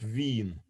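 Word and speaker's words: Wien: uh oh they in in german it's called veen uh well it's the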